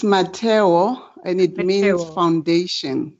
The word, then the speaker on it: Mmatheo: MOTC remind us again how we pronounced her name it's my towel and it means foundation my tail my tail and it means foundation yes oh